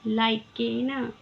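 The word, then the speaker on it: lichen: तीळ झिंगली म्हणजे तीळ एल आय सी एच इ एन लायकेन किंवा लायकन असेही म्हटलं तर चालते याला तर याला म्हणायचं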